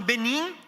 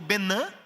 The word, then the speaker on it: Benin: Agora falando de norte de África, mais ao norte, nós trabalhamos no Benin, ou Benin, como eles pronunciam.